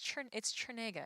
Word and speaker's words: Chernega: It's Chernega. It's like CH, cool. Sure. Like, but then people will be like T, and I'm like.